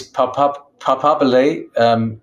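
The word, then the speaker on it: papabile: Yes, it's Papabili is the singular. Papabili is plural. It's the Italian.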